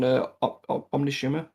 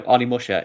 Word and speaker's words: Onimusha: on Resistance, but they did do work on Omnishima, the HD collection. Yeah. so I can never pronounce that one properly. It's probably why I've never played it. I can't find it. Oh, Onimusha.